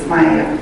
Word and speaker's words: Smiet: The deer, in our language, is Smiet, S-M-I-E-T, capitals, Smiet.